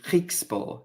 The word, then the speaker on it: Griekspoor: I believe it's actually Griekspoor. You pronounce his surname.